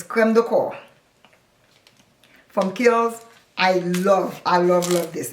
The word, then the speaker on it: crème de corps: I hear a lot of people pronouncing it crème de corps. It is not crème de corps. It's crème de corps, meaning body cream.